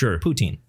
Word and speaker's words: poutine: E at the end is not super emphasized, but just poutine. Poutine, right? It's not Putin.